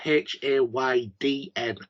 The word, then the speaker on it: Haydn: spelling my name h-a-y-d-e-n my name is spelt h a y d n as in the composer haydn but because he was